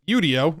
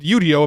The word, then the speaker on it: Udio: talked to the founder he said internally they pronounce it Udo everybody else has been calling it udio which I actually think is funner to say but it's actually called yudo apparently they just rolled